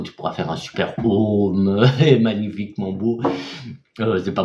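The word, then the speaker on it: Aum: Donc c'est génial, tu peux le faire ça de temps en temps, tu fais ton Om, Om, c'est Om, A-U-M. Ça s'écrit A-U-M, mais on prononce O-M, Om.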